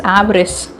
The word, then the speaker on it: avarice: So the correct pronunciation is avarice.